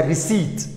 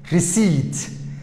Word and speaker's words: receipt: sidaas darteed bidaas lagu ma dhawaaqayo waxay noqonaysa receipt receipt receipt okay bidaas waa silent note sidoo kale